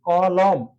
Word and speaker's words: কলম: অ তো আমরা এক্ষেত্রে উচ্চারণ কিভাবে করি ক লম নাকি ক লোম উচ্চারণ করি হচ্ছে ক এটা মুক্ত অক্ষর আর লোম একসাথে বলি ক লোম এজন্য এখানে হসন্ত আছে